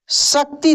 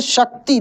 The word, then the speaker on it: शक्ति: दोस्तों, तालब विषय का उच्चारण तालु से होता है। जैसे शक्ति, देख सकते हैं लिखा है क्या?